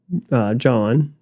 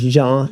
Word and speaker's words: Jean: So my dad, John Aquin, actually it's spelled Jean, so it's Jean. We're French. We're Frenchmen. Jean Aquin is what it is.